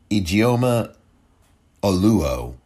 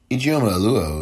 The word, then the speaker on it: Ijeoma Oluo: Ijeoma Oluo is the correct pronunciation, I believe, of her name.